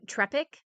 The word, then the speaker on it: Trepic: got uh um trepic rhymes with epic i'll never forget that